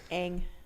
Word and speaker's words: Aang: concept art for you there with lead character young and his sky bison Appa Aang Aang sorry clearly you're a fan it should